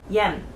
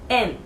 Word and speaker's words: 円: Yen. Yen. Yeah. The spelling of yen is Y-E-N, but Japanese people say en. En. So please pronounce not yen, but en. Okay?